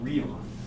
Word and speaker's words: Riemann: Anyway, we're roughly at that time, and this is pronounced Riemann. Riemann, not Ray or Rei or Riemann.